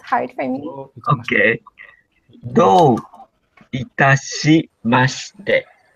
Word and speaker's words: do itashimashite: And can you please pronounce the last one for me? Because it's hard for me. Okay. Do itashimashite.